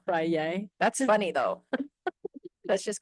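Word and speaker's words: Feyre: I think it's or Freya. not like Friday? not like Kanye. No, Frye.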